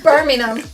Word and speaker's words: Birmingham: Birmingham. Remember, we pronounce things different to the Americans, you know.